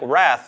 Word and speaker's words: wrath: Similarly, the silent W in words like wrath used to indicate that the word was pronounced differently than words starting with R, but that different pronunciation disappeared over time.